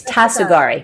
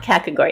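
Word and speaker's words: Tasogare: Tasogari. Okay, it's Tasogari. Right, that's what I thought. It's not Kakagori, it's Tasogari.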